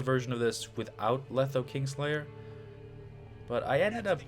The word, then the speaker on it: Kingslayer: Someone asked yesterday if Letho Kingslayer was worth it. King Slayer, not King Layer.